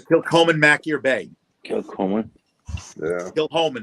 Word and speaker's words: Kilchoman: Kilchoman, it's actually pronounced.